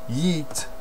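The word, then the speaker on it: Yiğit: wrestling muscle turkish guy his name was spelled yiggit it's pronounced yeet that was before the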